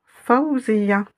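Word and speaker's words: فوزية: Donc, Faouziyatun, on dira, on prononcera Faouziya.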